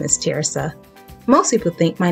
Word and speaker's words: Terysa: hi my name is teresa most people think my name is theresa but it's actually pronounced tear like a teardrop and then suh i am super excited